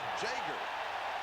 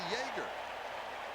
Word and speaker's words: Jaeger: When he came to Southern California, he said, why does everybody ask me how I pronounce my name? Read it. It's Jager. Well, he shouldn't come down to visit you then. You live in Loyola? Because we would think that it would be Jaeger.